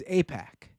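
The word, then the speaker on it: AIPAC: I believe it's IPAC. Have you heard of this? Oh, right. Right. I think it's APAC.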